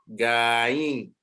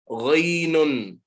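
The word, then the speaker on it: غين: Now, so previously, I haven't had you pronounce this, but so many people make mistakes. They say gain. There's nothing called gain. Ghainun.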